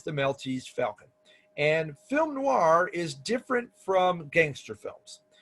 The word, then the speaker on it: film noir: off the genre was film noir a film noir and oh I R but is pronounced as if there's a w and again it comes